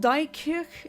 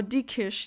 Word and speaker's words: Diekirch: By the way, that long thing you said about that relative in Luxembourg, it's not Dijkirch, it's Diekrich or Diekirch. That's how you pronounce it.